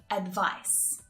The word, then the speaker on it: advice: Advise, advice. Can you hear the difference in the pronunciation? Advise, advice. It's that final consonant sound, the S unvoiced sound and the Z voiced sound, okay?